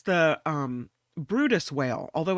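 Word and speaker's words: Bryde's whale: large creatures this whale is it's the um Brutus whale although it's spelled be y r d e so it looks like bird Birds whale but it's pronounced Brutus whale and researchers have uncovered something pretty interesting about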